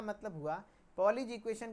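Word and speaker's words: Poiseuille: यानी जो Pauli's equation है इसको पॉलीज इक्वेशन कहते हैं। कई लोग इसको पोइसलीज इक्वेशन कहते हैं। लेकिन नहीं ई जो है यहां पर साइलेंट होता है।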